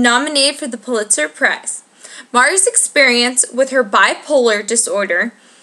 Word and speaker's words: Marya: Marya. My name is Marya. Not Mayra. M-A-R-Y-A. Marya. Marya. 2 syllables. Not Maria, not Myra, not Mayra, not Mara, Marya.